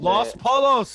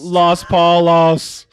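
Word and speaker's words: Los Pollos: tea, and Los Polos. and, I see it. That was the whitest pronunciation of that name of all time. was Los Polos. Los Paulos, Hermanos.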